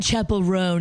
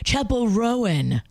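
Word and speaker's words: Chappell Roan: It's not Chapel Ran, it's Chapel Rowan."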